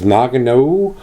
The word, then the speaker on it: Nøgne Ø: you had this beer this says Nagano that's how it's pronounced and this is their